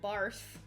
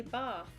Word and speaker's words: bath: an r in it i don't say barf i say bath yeah but you're saying